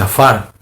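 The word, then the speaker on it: עפר: En hebreo, la palabra polvo se pronuncia y se dice afar, la palabra que se utiliza.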